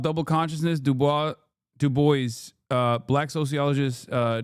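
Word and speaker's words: Du Bois: No, it's not Dubois.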